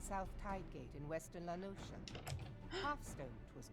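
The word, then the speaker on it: La Noscea: a hamlet Beyond South tide gate in Western lenosa half Stone it was called it is pronounced lenosa this is the first time I've heard him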